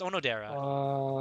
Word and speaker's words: Onodera: Odonera's sister. Oh no, there. Oh, It's Onodera, right? Or is it Odonera? I always say it wrong. It's Onodera.